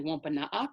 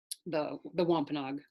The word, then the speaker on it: Wôpanâak: Although that spelling right there of Wampanoag is actually Wôpanâak, so that's the Wampanoag pronunciation. Wampanoag is more like the anglicized pronunciation.